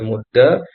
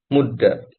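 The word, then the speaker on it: مُدَّ: Kalau versi penulis ya, bisa dibaca mudda, muddi, bahkan bisa dibaca nanti muddu. Jadi bisa tiga cara bacanya. Walaupun yang populer adalah mudda, diakhirkan fathah.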